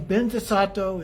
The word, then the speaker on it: Vajrasattva: And then Benzasato is actually Vajrasattva, the way that it's pronounced often in Tibetan.